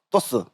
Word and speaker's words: 또쓰: 토스. 네, 짧게 해야 되는군요.